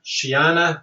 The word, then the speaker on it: Shiana: Shiana sounds like banana ham.